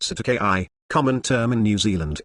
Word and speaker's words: cestui que: Doe Otto Jane one says to UK trust pronounced SATA ki common term in New Zealand and Australia to